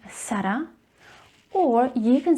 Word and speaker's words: Zara: Are you pronouncing it as Zara, so Z with a Z sound, or are you saying it even worse, Zara, so you pronounce the first vowel A as an E sound? Then I have to disappoint you because you are saying it wrong and you need to stop doing it. Seriously. Now you have two options with this name. You can either pronounce the letter Z as S, Sara, which is more commonly